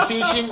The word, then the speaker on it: phishing: Pero bueno, mucho cuidado con el phishing. Mucho cuidado, Checo. tú ¿Cómo que se andas- pronuncia? Phishing. Lo que pasa es que es PHISHING. Ah, ok. De fish. Fish.